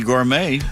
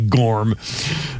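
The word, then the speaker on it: Gormé: Well, you also mispronounced Eddie Gourmet. Eddie Gorm.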